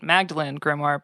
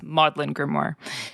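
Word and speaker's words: Magdalene Grimoire: familiarized yourself with it Magdalene grimo but it's modlin grimo and this is the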